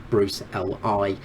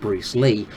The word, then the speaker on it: Bruce Le: I didn't mispronounce that, by the way. I do mean Bruce Lee, as in Bruce L.I. not Bruce Lee.